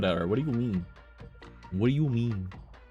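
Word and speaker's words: Mie: Like, I think that they pronounce it me, just M-I-E, me.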